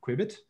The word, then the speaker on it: Kuibit: a little while i i myself don't know exactly how to pronounce this word quebec that's how i pronounce it and i'll tell